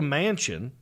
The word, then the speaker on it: Manchin: like the last name i know it's spelled different but you hear the word mansion you think oh this